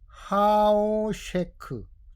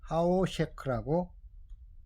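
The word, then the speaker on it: החושך: 어둠을 하오셰크 하오셰크라고 읽습니다. 단어별로 해 보면은 해트 해트 흰 카프입니다.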